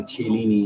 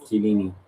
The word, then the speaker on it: Chiellini: I also said at one point when I was younger, Cellini instead of Chiellini.